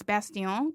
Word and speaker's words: Bastién: And last name is it's actually the correct pronunciation, which my family loves to remind me about is Bastién, because it's French.